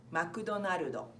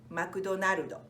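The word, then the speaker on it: マクドナルド: same thing but basically we pronounced it as makuta Nardo many people are the disgust I got so we say McDonald's in the States in Japan we say Mikoto Naruto like name of the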